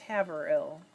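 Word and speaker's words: Haverhill: i did know that new hampshire is pronounced have her ill oh good tina said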